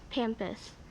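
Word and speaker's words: pampas: Spanish pampus am I saying it correctly yes pampus p a m p u s pampus incorrect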